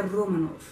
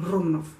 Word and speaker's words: Romanov: E ele falou para mim que é Romanov, tem um R mais... tem um R italiano, Romanov, só que mais rápido, Romanov.